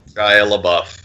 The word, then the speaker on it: Shia LaBeouf: Don't pretend you don't know how to pronounce his name. Shia LaBeouf.